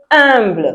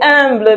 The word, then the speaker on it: humble: So, this is humble. We say humble because the H is silent. And the U M is un. So, humble.